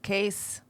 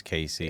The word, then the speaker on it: Cayce: prophet at edgar cayce case case casey no it's casey it's case i've heard